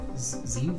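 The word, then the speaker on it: Tzeentch: Tzeech? Tzeech. Tzeech. Silent T. That's how I've heard it pronounced mostly.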